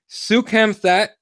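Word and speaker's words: Soukhamthath: Sukhamthat.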